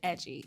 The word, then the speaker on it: Edjy: Then I tried Edgy, spelled EDJY, pronounced like edgy, and it's totally different.